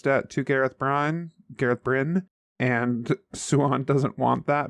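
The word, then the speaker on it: Bryne: um Brian burn Bri I never know how to pronounce it Gareth Brin bin I think it's bin I think it's bin okay yeah Gareth Brinn um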